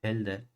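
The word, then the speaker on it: Hölder: general decimos que es holder mente si lo pronunciésimo bien sería Elder continua en x0 si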